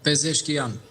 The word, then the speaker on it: Pezeshkian: Si quhet Kokamani, si pronuncimi sakt? Po, Pezeshkian. Pezeshkian.